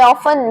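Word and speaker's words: often: सो यहां पे जो टी वर्ड है उसको आपको साइलेंट मोड पे भेज देना है। ऑलराइट। सो आपको बोलना है ऑफन। ऑफन नॉट ऑफन। गलत हो जाएगा।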